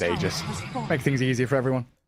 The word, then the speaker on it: Aegis: them into Visage and we Americanized it sounds like ages right it's meant to be Aegis we pronounce it Aegis make things easier for